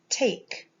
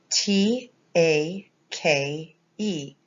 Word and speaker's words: take: switch colors and take t a k e take the t um sound is the a is a long a sound a and the k is a k and the e is silent a k take and